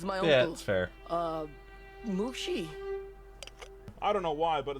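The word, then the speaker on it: Mushi: Doc right now Mr Lee and Mr Lee mushy is it it's pronounced mushy I love the idea that Ira decided to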